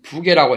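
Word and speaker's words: 부개: 발음은 부계라고 해야 맞아요.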